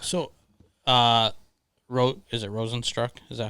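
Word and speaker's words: Rozenstruik: do you have so uh wrote is it rosenstruck is that how you say his name yes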